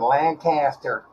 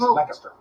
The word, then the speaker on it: Lancaster: Chad's correcting you because you said Lancaster. It's Lancaster.